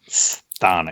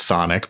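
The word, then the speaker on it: Chthonic: Is that Thonic or Sthonic? It's pronounced Thonic, but it does begin with a C.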